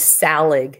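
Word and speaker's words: Tsalig: they his name is Sal aghh so they don't pronounce the T in it anyway so his older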